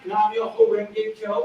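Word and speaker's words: Nam Myoho Renge Kyo: Again, the pronunciation is Nam, Myoho Renge Kyo.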